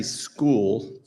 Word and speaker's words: Skool: It's great to be up here again, and it's actually Skool. He's thinking of Score, which is the people that help retired folks that help businesses, but Skool, and it's actually spelled with a K, Skool.